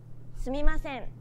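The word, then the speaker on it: すみません: time sumimasen sumimasen sumimasen notice how each character is pronounced for an equal amount of time sumimasen no character takes up more or less time than the other characters every character is valued equally and is pronounced evenly throughout see that's really interesting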